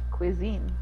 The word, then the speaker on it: cuisine: Okay, so say quiz again. Quiz. Okay, and then say een. Een. Cuisine. Cuisine.